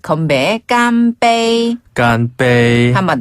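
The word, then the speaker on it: 干杯: 깐빼이. 한 번 더 깜이. 깐빼이.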